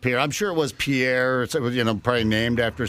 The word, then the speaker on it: Pierre: do you pronounce it Pierre will get you punched in the mouth and yeah South Dakota how do you say it's too fancy just adds too fancy Pier we just came up